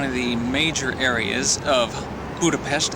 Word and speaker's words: Budapest: Ro here it's the next morning here in Budapest or budapes as they like to pronounce here in Hungary this is the largest